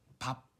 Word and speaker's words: 밥: 밥. 보시면 이 처음 비읍하고 끝에 비읍이 소리 나는 시간 차이가 좀 있어요. 밥. 이렇게 되면 끝에 소리를 빨리 닫아줘요.